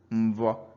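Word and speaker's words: mvọ: So mvo is dialectical. So most dialects, including Igbo Izugbe, has it as mbo, that is MBO, but some dialects have it as MVVO, mvo. So it could be mbo or mvo.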